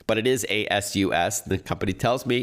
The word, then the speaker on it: ASUS: I'll tell you more about ASUS shortly, or as my friends call it, ASUS, but it is ASUS. The company tells me it's pronounced ASUS.